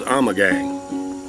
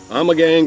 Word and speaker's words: Ommegang: very strange name and the way i pronounce it is i'm a gang i'm a gang brewery out of cooper town